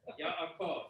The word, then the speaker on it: Yaakov: Jay, how do you pronounce that word? Yaakov.